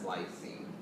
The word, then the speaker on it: lysine: would be positively charged that's lysine not gine but lysine remember gine is spelled with a c lysine is spelled with an S and whenever I say